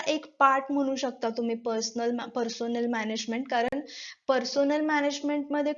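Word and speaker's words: personnel: Next आहे difference between पर्सोनेल management and human resource management. So याचं spelling बघा, इट इज नॉट पर्सनल, इट इज पर्सोनेल.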